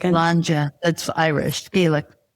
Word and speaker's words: Sláinte: orange wine Sláinte. Tell me how do you say that again? Sláinte.